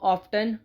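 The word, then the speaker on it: often: इसमें T silent है। T silent की होने की वजह से इसको ऑफेन बोला जाता है।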